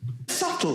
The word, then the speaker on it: subtle: Subtle. Would anybody object if it was spelled S-U-T-L-E? Not a single person would. But there's a B in the middle going, shh, just ignore me.